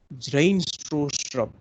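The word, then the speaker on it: Bjarne Stroustrup: C++ is a middle level or a lower level language which was created by Zrain Strostrup, right? B છે silent છે, B is silent in the name.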